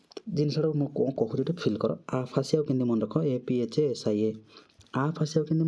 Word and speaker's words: aphasia: खत्म 100 number ward गला next आसला आपाथी गला आफासिया APHASIA 101 नंबर वार्ड आसला आफासिया यार मीनिंग